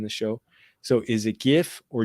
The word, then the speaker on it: GIF: it gif or jif so the person who came up with it pronounces it and says it should be pronounced jeff i think most people say gif because it's a g not a j i guess to me